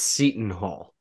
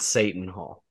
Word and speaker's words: Seton Hall: basketball yeah go ahead it's Seton Hall not Satan Hall why would they solo